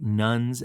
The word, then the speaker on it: nones: today are quote unquote nuns and duns um just because that sounds differently to our ear particularly when we're thinking about religion um than it is spelled I thought maybe just